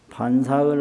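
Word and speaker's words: 飯食: 반사를 하시고 공양을 하여 마치시고 반은 먹는다는 뜻이고 사는 음식이라는 뜻이거든요. 그래서 먹는다라고 식자를 하면 식이라고 발음을 하고 음식이라고 명사로 쓰면 사로 발음해서 여기서는 음식이니까 공양을 해서 밥반짝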